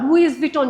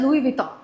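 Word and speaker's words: Louis Vuitton: পারে, সে পড়ার পর লুইস ভিটন যেভাবে লেখা আছে সে ওইভাবে জিনিসটাকে প্রোনাউন্স করছে, কিন্তু তার কখনো শোনার সুযোগ হয়নি। সে যদি শুনতে পারতো যে এটা লুইস ভুটন না, এটা লুই ভিটন, সে অবশ্যই এটা ক্লিয়ারলি বলতে পারতো।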